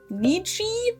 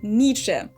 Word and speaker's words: Nietzsche: I think Americans usually say Nietzsche or something like that. In German, it's Nietzsche. Nietzsche. Friedrich Wilhelm. Jesus. God. Saying this guy's name almost killed me. Friedrich Wilhelm Nietzsche. Friedrich Wilhelm Nietzsche. We basically just pretend that the Z wasn't even there, and we just say Nietzsche.